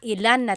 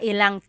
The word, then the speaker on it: ilang: Instead of mga ilan na tao ang darating, it's mga ilang tao ang darating. About how many people are coming. So that's just a pronunciation tip. Make that contraction to make it flow a little bit better.